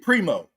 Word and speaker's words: Primeau: Primo is that how you say it? Primo? Yes. That's spelled Primeau. Primo.